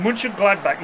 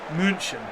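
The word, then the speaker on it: Mönchengladbach: Munch Gladback, not Munchin.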